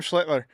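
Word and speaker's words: Schlittler: Schlitler. Is that how you pronounce it? Yeah, Cam Schlitler.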